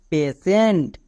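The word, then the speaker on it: patient: এক্ষুনি নিয়মে বলে আসলাম, টি এর পরে যদি IE থাকে তখন টি এর জন্য তালিবস্য হয়ে যায়, তার মানে টি এর জন্য এখানে আমি তালিবস্য উচ্চারণ করব। যেমন PA, পে, TIENT, সেন্ট, পেশেন্ট।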